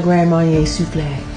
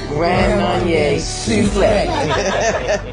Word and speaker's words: Grand Marnier Soufflé: The Grand Marnier Soufflé. You have to say it like that. Grand Marnier Soufflé.